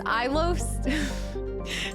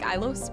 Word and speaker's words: Ilos: try this Brookie with peanut butter so it's ilos the pronunciation you pronounce it like ilos reload to save and finish reading wait wait